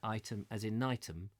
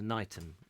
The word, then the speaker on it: Ightham: Wikipedia says you pronounce Ightham Mote correctly, as in Ightham, as opposed to Knightham.